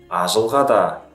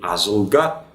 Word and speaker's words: ажылға: Не ажылга, взрывная, а щелевая задняя, ажылға.